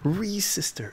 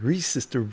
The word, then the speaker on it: Resistor: podcasting platform three sister reese sister it's not registered resistor bro ree sister dj resistor damn dj resistor thank you for the correction and gang if i'm